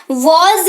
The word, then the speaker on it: was: वॉज इसको पढ़ते हैं, हल्का सा ज का साउंड आता है इसमें, तो वॉज इसको पढ़ते